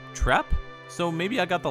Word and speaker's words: Trepe: of sorta quiz tis with her last name being trepe or trapp so maybe i got